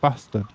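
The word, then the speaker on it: Båstad: It's spelt Bastad, so I can only presume it's pronounced bastard. Bastard, yeah, that's right.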